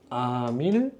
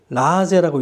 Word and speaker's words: 아밀레이스: 아밀레이스. 또는 어떻게 읽기도 하냐면 아밀라제라고 읽기도 하죠. 발음하는 대로 아밀라제라고 읽기도 한다고. 일본식 발음으로.